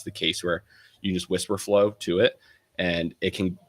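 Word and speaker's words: Wispr Flow: So Whisper Flow, it's spelled WISPR. It's like, and then Flow, FLOW.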